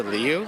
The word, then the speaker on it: Liu: So my family calls me, but like all my friends call me, so it really doesn't matter. And then my last name, the Chinese pronunciation is Liu.